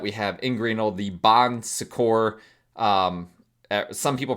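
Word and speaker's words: Bon Secours: Um, some people pronounce it bonsors with an s at the end because it does have actually an s at the end, but it's a French word. I I think the s is silent.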